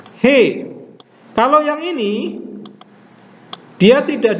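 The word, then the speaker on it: ἡ: Jadi ini ada tanda nafas. Tanda nafasnya kuat atau lemah? Perhatikan di sini dalam huruf Ho ada tanda pernafas. Tanda pernafasannya adalah tanda pernafasan kuat. Jadi harus diucapkan Ho. Sama seperti ini diucapkan He.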